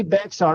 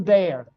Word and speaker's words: Bexar: the bear dude I'm sorry I always say Bexar even though I know it's from Bear County Texas it's pronounced there even though it's spelled Bexar I